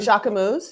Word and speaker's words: Jacquemus: And even like Um, Jacquemus, is that how you say it? yes, I want one of, Jacquemus.